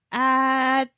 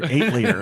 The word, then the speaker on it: atelier: Atelier Oh. Lead and Suel, Atelier. I guess. So it's French Japanese. It's one of the Japanese. atelier games. Or if you're uncultured, 8-liter.